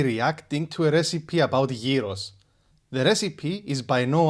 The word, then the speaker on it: gyros: But you should pronounce it as gyros. Imagine it with a Y and double E.